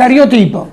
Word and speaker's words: cariotipo: E scrive, io ho 39 anni e cariotipo, giusto si pronuncia? Sì, così, cariotipo.